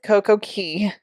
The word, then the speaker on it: CoCo Cay: is it 1K or CoCo Key it is CoCo Key actually if you know c-a-y is pronounced key but it is perfect